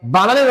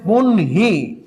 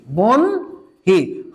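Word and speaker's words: বহ্নি: এই উচ্চারণটা হবে হচ্ছে বনহি, বনহি। হয়ের সাথে যেটাই যুক্ত থাকুক না কেন তার অবস্থানটা হবে সামনে।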